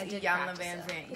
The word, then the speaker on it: Iyanla Vanzant: Most people get Iyanla's name wrong, so I always say just say Iya, like it's an I. Yeah, so it's Iyanla Vanzant.